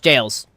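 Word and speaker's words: gaol: in an Ever jail those are pronounced jails he specifically calls it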